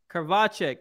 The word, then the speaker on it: Krivachek: Krivachek. Is that Russian? Nope, it's Czech. Czech, like Czechoslovakia, if I'm pronouncing Czech Republic.